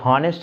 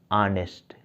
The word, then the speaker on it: honest: अब ध्यान दीजिए, ऑनेस्ट बॉय, ये हॉनेस्ट इसका प्रोनाउंसिएशन नहीं होता, ऑनेस्ट, HONEST, इसका प्रोनाउंसिएशन क्या होता है, ऑनेस्ट।